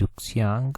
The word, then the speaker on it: Ruxiang: तो इनका नाम है इस तरह से RUXIANG रुक्सियांग, और झांग करके है आगे, इस तरह से इनका नाम है।